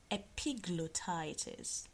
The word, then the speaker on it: epiglottitis: a big blow Titus did you hear me epiglottitis I'm gonna spell that for you epi GL or CT IT